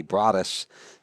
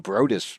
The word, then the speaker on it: Broadus: His dad looks at me and I said, Broadus? And he said, yeah, that's how you pronounce it. I said, why didn't you ever correct me? I called him Brodus the whole time.